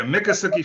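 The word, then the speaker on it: Miccosukee: right it is in um Kelvin help me pronounce that is it mikasuki Florida that's very good yeah mikasuki Florida Muki Florida about 18 miles outside of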